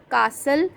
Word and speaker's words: castle: Castle, T is silent.